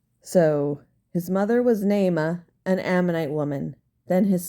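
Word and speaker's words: Naamah: David his mother was Nema an ammonite woman then his son Abba Jam I want to pronounce that correctly hold on well I would have been wrong so his mother was neyma an ammonite woman then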